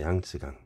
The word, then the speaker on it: 양쯔강: 양쯔강. 양자강이라고도 하고 중국 발음이 양쯔강이죠.